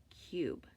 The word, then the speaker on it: cube: that would be cube before we put our silent E on you'll notice that this you would then make a short sound like cub but as soon as we put that silent e on it says ooh cube okay our next two